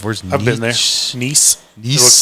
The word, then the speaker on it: Nice: Nice. It Nice? looks like nice. It's spelled nice, N-I-C-E.